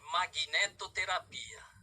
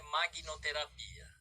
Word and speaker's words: magnetoterapia: com vocês sobre magnetoterapia a pronúncia correta magnetoterapia não é máquina terapia de magnéticos né e Terapia Ok eu